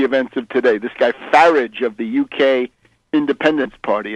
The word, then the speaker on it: Farage: This guy Farage of the UK Independence Party, a true scoundrel. Farage. Farage rhymes with garbage.